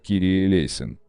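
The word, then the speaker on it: Κύριε ἐλέησον: сочинили знаменитую песню 496 молитва Господи помилуй на греческом языке произносится как кирие лейсон ранее все богослужения проходили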